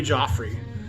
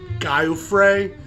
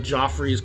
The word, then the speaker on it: Giuffre: music rather unheralded and we're talking about jimmy joffrey uh this looks like guy who fray but it's pronounced joffrey from what i can tell a good italian